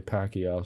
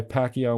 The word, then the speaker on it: Pacquiao: So Manny Pacquiao, the professional boxer, and my Spanish pronunciation stinks, but other people say Pacquiao, so that's what I'm going to say.